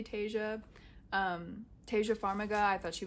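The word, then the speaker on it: Taissa: I love, I think her name is pronounced Tasia, so I'm gonna say Tasia.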